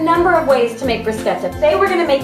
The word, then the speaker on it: bruschetta: make a tuscan favorite called bruschetta many people pronounce it bruschetta but it's actually as my husband told me time and time again called bruschetta it's made with fresh tomatoes garlic and basil